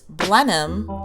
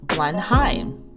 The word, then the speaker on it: Blenheim: thing we learned was we were pronouncing it wrong it's Blenheim not Blenheim I'm not the history